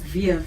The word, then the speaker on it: WEEF: And But it's veef. How do you pronounce Veef, yeah.